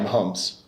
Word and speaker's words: Mahomes: the news this past week is that patrick mahomes is that how you pronounce it yeah mahomes patrick mahomes was five either five or six